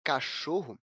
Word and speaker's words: cachorro: ou proparoxítona por exemplo a palavra cachorro é uma palavra paroxítona isso porque a sua penúltima sílaba a sílaba choro é a sílaba tônica da palavra a sílaba mais forte quando a gente pronuncia cachorro é bom como